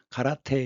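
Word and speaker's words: 空手: 그런데이 당수는 일본 쪽에서는 공수라고 얘기를 합니다.이 공은 일본 발음으로 가라예요. 가라. 가라. 그리고 수는 일본 발음으로 대입니다. 태. 그래서 가라테 이렇게 얘기하는데 그러면 비었다는 건 뭐냐?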